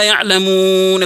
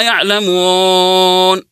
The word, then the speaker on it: يعلمون: في تلاوه القران الكريم نطق الواو العربيه مثل حرف او بالانجليزيه يعني مثلا يجي عند كلمه يعلمون ما يقراها يعلمون اقراها يعلمون يعني ما نطق الواو واو خالصه صافيه عربيه كذلك من ضمن